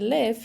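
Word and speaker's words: libh: lot means with you to one person and live here live press live l i v is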